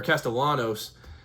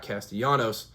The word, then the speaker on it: Castellanos: So, the talk of the town um this week in college football has been Thomas Castillanos or Castellanos was how his name's uh pronounced pronounced uh not Castanos like the former Reds player,